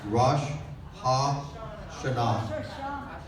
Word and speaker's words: Rosh Hashanah: we are planning a Rosh Hashanah and Yom Kippur. Did I pronounce that wrong? Yes. Rosh Hashanah.